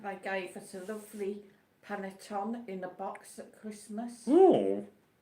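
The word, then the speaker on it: panettone: Square boxings and he says it's pronounced panatoni.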